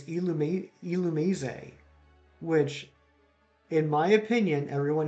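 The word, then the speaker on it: Illumise: illumi's but i never okay yeah i can't elumizay and and from what i understand is that the official pronunciation i always pronounced it illumize like illuminate except with uh with an you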